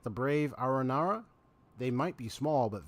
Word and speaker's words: Aranara: haven't grown up would believe in stories about ARA Nara so that's how it's pronounced they're Fantastical creatures from fairy tales you